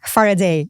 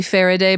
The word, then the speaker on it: Farideh: Faraday, is it? Yeah. Faraday. Faraday. You know, depending on like your accent, it's usually Faraday, but it's Faraday.